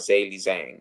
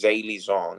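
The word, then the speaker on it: Zhang: which is actually Z we've been pronouncing his name wrong it's actually Z zong it's not Z Zang it's Z zong is his name zong took it all out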